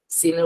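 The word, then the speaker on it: س: এটা হলো সিন আর শিন, দুইটার উচ্চারণ দুই রকম।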